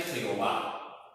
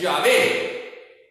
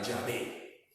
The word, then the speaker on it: Yahvé: Pero la pronunciación correcta es Yahvé. Esto es un artificio. Esto es un artificio que se hizo en el siglo 8-9 después de Cristo. Y así se estuvo pronunciando Jehová hasta el siglo 16-17, donde se volvió otra vez a la pronunciación correcta, Yahvé. Que quede claro, hermanos, que la pronunciación correcta de estas 4 letras sagradas es Yahvé.